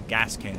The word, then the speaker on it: Gascoigne: But I'm pretty sure it's just pronounced Gascoigne. Pretty sure that's just how it's pronounced. Maybe I'm wrong, and it's like Gascoigne or something. It's like a really hard thing to pronounce. But I always thought it kind of sounds similar to Gaston from like the freaking Beauty